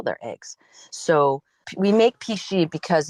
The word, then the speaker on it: pici: We make pici, and it's spelled Pici, which is very traditional Tuscan pasta recipe.